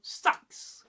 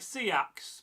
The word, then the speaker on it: seax: Move down to Mercia, central England, a place where I am from. A melting pot of history. Here, you might still hear sax. And in the early period of the 7th century and the 6th, they'll say something like seax, but sometimes soften slightly, depending on influence and contact. Mercia sits in the middle, and it sounds like it.